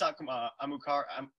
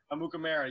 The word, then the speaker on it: Amukamara: Prince Amukar. Am I saying it right? Amukamara, yes.